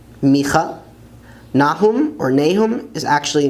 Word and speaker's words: מיכה: Some people like to say Obadiah, but that's really not the way to pronounce it. It's Ovadia, Ovadia. Jonah is Yonah, Yonah. Micah or Micah is actually Micha, Micha.